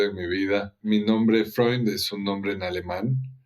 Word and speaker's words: Freund: no y me decía se dice fre lo estoy diciendo bien así es fre me estaba explicando sus